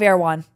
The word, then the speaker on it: Erewhon: And don't say it wrong. Okay, Erewhon, not Erewhon.